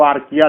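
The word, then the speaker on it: Archaea: देखिए आर्चिया भी लिखते हैं लोग, उसको आर्किया लेकिन प्रोनाउंस करते हैं।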